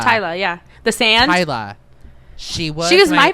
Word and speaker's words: Tyla: um was okay I'm going to pronounce her name wrong T Ty Ty Ty Tyler Tyler yeah the sand Tyla she was she was my favorite absolute favorite